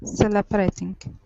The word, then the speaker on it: celebrating: here this is celebrating our stress is at the very beginning celebrating celebrating okay one more time stress at the beginning instead of celebrating it's celebrating celebrating celebrating celebration okay very